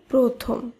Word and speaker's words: প্রথম: র ফলা যুক্ত থাকবে তখন সেই র ফলাযুক্ত ব্যঞ্জন বর্ণের উচ্চারণ ওকার হিসেবে উচ্চারিত হবে যেমন গ্রহ গ্রন্থ প্রথম